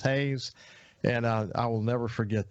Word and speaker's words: Haas: It looks like Haas, but it's pronounced Hayes.